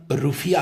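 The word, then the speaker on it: Rufiyaa: मालदीव की करेंसी, हालांकि यहाँ के लैंग्वेज में उसका प्रोनाउंसिएशन रुफिया होता है।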